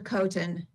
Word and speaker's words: Coten: help me with that it it's Mr Coten Mr coton excellent thank